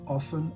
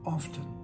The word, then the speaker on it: often: point just remember that in the Cambridge dictionary the Oxford dictionary and the Merriam-Webster Dictionary those three The Big Three they all give both pronunciations often and often in their pronunciation guide so it's okay all right this is